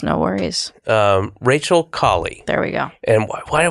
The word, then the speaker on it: Kaly: we're talking to Rachel clay can I correct you yep C collie what collie collie I know oh okay